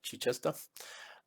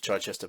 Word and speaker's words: Chichester: up uh now I'm going by the pronunciation of the uh the town in England in the UK uh that's how it's pronounced Chichester um I I thought initially it was Chichester but I think I'm